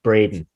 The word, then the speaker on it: Bredin: wrong so it's uh b-r-e-d-i-n and it's pronounced brayden braden i was nowhere near